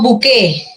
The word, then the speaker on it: buqué: lo que sucede Bueno este diptongo B no se simplifica se convierte en U y la t final al desapa desaparece tenemos buqué Entonces buquet se convierte